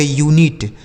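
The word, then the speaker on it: unit: देखिए तो यू एन आई टी इसे पढ़ा जाएगा यूनिट। इसे अनीट नहीं पढ़ा जाएगा।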